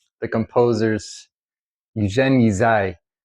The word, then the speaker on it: Ysaÿe: a musician and um changing his name to say s a y uh is sort of a nod to how you actually say um that family's name.